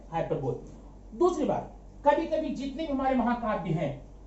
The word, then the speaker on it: hyperbole: ठीक है, अगला है 6 हाइपरबोल। अब जरा इसका प्रोनाउंसिएशन देख लेना। हाइपरबोल तो दिखने में लग रहा है, लेकिन इसको हम बोलते हैं हाइपरबली।